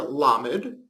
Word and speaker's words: lamed: The Hebrew letter lamed, or ol, is pronounced like an American L, with a relaxed tongue, not like a Hebrew or German with a pointed tongue.